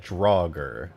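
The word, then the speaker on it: Draugr: so you that's it that's how you say it drauger okay all right that's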